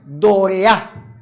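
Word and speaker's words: δωρεά: señor entregó dorea dorea vamos la tilda acá para la pronunciación dorea dorea es lo que el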